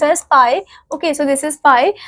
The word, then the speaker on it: pi: Which is pronounced as pi.